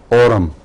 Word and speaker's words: Aurum: آرم دو ہیں، ایک ہے AURUM، اورم. اس کا تلفظ آرم نہیں ہے بلکہ اورم ہے، اور یہ وہ چیز ہے جو اس کو سونا کہتے ہیں.